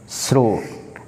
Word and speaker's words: shrewd: Now next word shrewd, S-H-R-E-W-D. It is pronounced as shrewd, S-H-R-O-O-D.